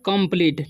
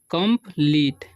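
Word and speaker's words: complete: यहाँ लिखते हैं कंप्लीट, ठीक है, इसे पढ़ते हैं हम कंप्लीट, ठीक है, कंप्लीटे नहीं पढ़ना है, ठीक है। इसे पढ़ते हैं होप, ठीक है, होपे नहीं पढ़ना है, इसे पढ़ेंगे हग, ठीक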